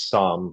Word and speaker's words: SOM: That There makes is there is so yeah, it is Psalm, like that's the way we pronounce it.